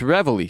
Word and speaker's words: Reveille: No, it's Reveille. Yeah, I was right. No, it's R-E. How do you Reveille. And it's pronounced Reveille.